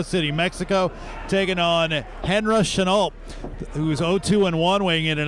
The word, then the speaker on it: Chenault: Neither one of them is extraordinarily tall for the weight class, but I have noticed that we've got Chenault. Is that how you pronounce his name?